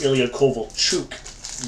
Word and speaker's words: Ilya Kovalchuk: Ilya Kovalchuk. His name is actually pronounced Ilya Kovalchuk, believe it or not. So we just adapted it into Kovalchuk here.